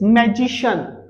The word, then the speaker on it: magician: मैं बताता हूं so ये words ending with cian sound, ये cian पे एंड होते हैं और इनका साउंड होता है शन शन not shian, right? So it's magician not magician, it is